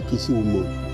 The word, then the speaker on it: Kisumu: The Luo called it Kisumu, but then the Wasungu called it Kisumu, and the Luo used to call it Winam. So the actual pronunciation should be Kisumu.